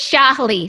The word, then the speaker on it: Sjahli: butcher your last name it's Shapley so the J is silent yeah I've always trust